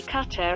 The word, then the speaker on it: Qatar: The nearest English pronunciation to the local way would be Qatar, and the name comes from Qattara, referring to Zubara, a town in the country.